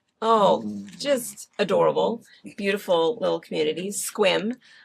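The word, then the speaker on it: Sequim: Squim. Um People think it's it's spelled s e q u i m, but it is pronounced Squim.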